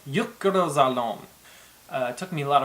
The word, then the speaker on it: Jökulsárlón: probably one of the harder ones to say, Jökulsárlón.